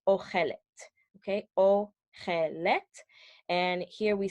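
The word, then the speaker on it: אוכלת: We have that O sound, the same O sound that was in the masculine singular, but we have an additional et, okay? Tav sound at the end.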